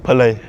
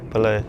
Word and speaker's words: Pillay: It's spelled. And the last name? Pillay. Pillay, yeah.